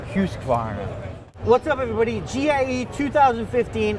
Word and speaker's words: Husqvarna: well in the US it's husk Mar okay right don't put the other in there just say hus but if you really want to say it like a Swede we're going to say hus hus Varna what's up everybody gie